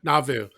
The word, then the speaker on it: Nauvoo: How did we decide we should pronounce it? Nauvoo, I thought. Nauvoo.